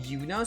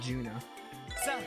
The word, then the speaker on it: Juna: you pronounced your name Yuna so the J is silent okay yes so it's Yuna from Final Fantasy 10 just a different spelling okay that's easier to say than Juna also sounds a lot